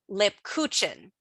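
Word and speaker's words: Lebkuchen: adult is that the the long name of this is lipcuchen and that's how you spell it and it's not a p it's a b so you and they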